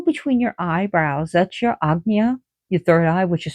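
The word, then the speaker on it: Ajna: So, if you go between your eyebrows, that's your agna, your third eye, which is spelled aja, but it's pronounced agna.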